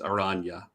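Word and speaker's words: Araña: juice yes there's a there's a y in there because of the tilde on the end it's aranya oh it's a run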